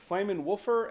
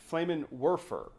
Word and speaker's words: Flammenwerfer: I've heard it Flammenwolfer and Flammenwerfer, and I don't think there's a different.